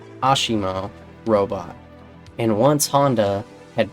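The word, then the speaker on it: ASIMO: Fun fact, because Honda is Japanese, I'm 99% sure this is pronounced Ashimo, because I knew of a Ryu player with that tag, and it was pronounced Ashimo.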